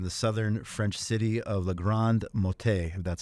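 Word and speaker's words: La Grande-Motte: of blaze in the southern French city of L Grand mot that's how it's pronounced on Saturday luckily this was before most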